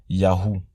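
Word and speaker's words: יהו: Ces 3 lettres ensemble se prononcent Yahou. Le Vav devient un U et se prononce donc Ou, Yahou.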